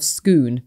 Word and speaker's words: Scone: of scone and scone I recently went to the town of schoon in Scotland so there you go